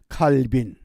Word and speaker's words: 칼빈: 왜 그런가 하니 칼빈이 불란서 사람인데 불란서식 발음은 칼뱅입니다. 그 세문안교회 은퇴하신 이수영 목사님이 불란서에서 과정을 마치고 학위를 얻어서 한국에 입국해서 제일 먼저 이 용어를 바르게 해야 된다. 그리고 칼뱅으로 가리킨 이후부터 대부분 칼뱅 그럽니다. 그러나 영어식 발음은 칼빈이 맞습니다.